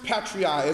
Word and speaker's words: patriae: you all about Black's Law Dictionary right parens patriae spelled PA are in this the second word